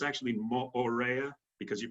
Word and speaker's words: Moorea: and by the way all the vowels are pronounced in Tahitian language so mostly you'll hear people say Moorea but it's actually more rare because you pronounced both